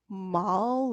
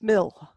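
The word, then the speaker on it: maol: AO, you would think it was mal or male, or if you looked at, but no, it's mill.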